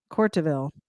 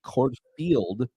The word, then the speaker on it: Courteville: been pronouncing it like Tracy Courtfield. Courtville. There's no F in it. Courtville. It's a V.